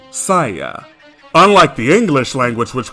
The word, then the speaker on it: Saiya: Take the letters for sa, I, ya will give you Saya.